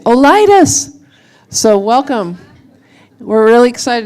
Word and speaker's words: OLITUS: lightest and I asked Kurt how do you pronounce the name of the company he said you say Oh lightest so welcome we're really excited to have you